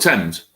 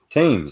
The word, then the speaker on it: Thames: Oh, the Thames. Thames, there you go. Thames. How do you pronounce it?